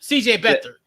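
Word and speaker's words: C.J. Beathard: is Jimmy G and I know I'm gonna say his last name wrong, but CJ Bethea. You talk about I know you talk about. I probably said his first name wrong too. Better, CJ Better. Yes, because I think he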